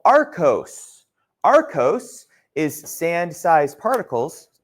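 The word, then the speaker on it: arkose: are other variations of sandstone including one called Aros Aros is sand siiz particles therefore making it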